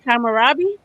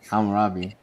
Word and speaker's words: Hammurabi: Kamarabi. Hammurabi. Hammurabi. And I I don't That's how it's spelled.